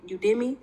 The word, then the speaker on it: Udemy: So I did the solo ads with the Udemy, is how you say it.